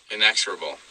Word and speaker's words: inexorable: the father inexorable yeah the accent's on the second syllable inexorable thinking himself bound in